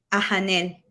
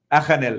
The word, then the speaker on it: Ajanel: nuestra paisana, doctora Abi Ajanel, o Ayanel. La verdad, ¿cómo se pronuncia su nombre, maestra? Ajanel. Ajanel. Estamos aquí, Ayanel. Okay. Ajanel, entonces.